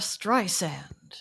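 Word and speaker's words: Streisand: year was my name is Barbara by Barbara Strand and that's how you pronounce her name you don't don't pronounce it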